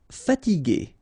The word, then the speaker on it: fatiguer: Fatiguer.